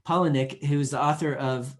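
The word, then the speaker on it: Palahniuk: something new uh chuck palaniuk polynic sorry i pronounced his name wrong paulinick who is the author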